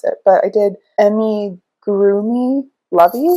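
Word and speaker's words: amigurumi: ever heard this word pronounced so I might mispronounce it but I did Emmy groomy lovees it's a pattern I found I think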